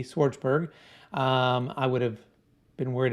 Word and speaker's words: Schwartzberg: And for my phonetically challenged people out there like myself, Schwartzberg, Schwartzberg.